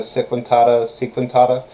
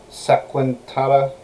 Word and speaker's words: Segmentata: I liked their old armor, the Lorica Sequentata, right? I mispronounced that last part horribly. Segmentata, right?